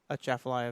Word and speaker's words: Atchafalaya: If there's no A, I think you don't pronounce the A, Yeah, you do. right? You do? Yeah. The Chaffalaya Basin. Yeah, but it's a soft A. It's not a hard A.